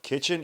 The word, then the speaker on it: KTCHN: now, kitchen is spelled KTCHN. It's not the traditional way Yeah, of kitchen.